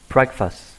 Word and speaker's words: breakfast: Chúng ta đọc từ này là have breakfast. Chúng ta có trọng âm số 1 breakfast. Chúng ta không đọc là breakfast, đúng không ạ?